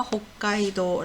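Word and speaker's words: 北海道: 지도가 허 가까이도 이럴 때는 초봄 이 돼서 호 까이 도 라고 합니다 지명 이름이죠 그리고 북구 극복 표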